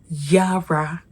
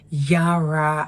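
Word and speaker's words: yára: It is pronounced Yara, Yara, Yara, Mi, Re. Again, because this is the tonal marks on these letters, and so it is pronounced Yara as in Mire, and Yara means hurry, to hurry.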